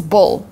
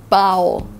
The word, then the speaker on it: bowl: The right way to pronounce bowl is bowl, not bowl.